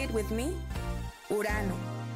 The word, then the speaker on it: Urano: called urano can you say it with me urano it's a very cold Planet way out here